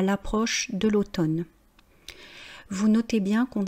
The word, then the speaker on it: l'automne: Devant une voyelle, on fait une élision donc on prononce bien à l'approche de l'automne on allait au bois